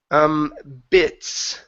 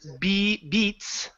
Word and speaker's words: bits: Let's go to bits. Right here, instead of beats. Okay, give me a short I.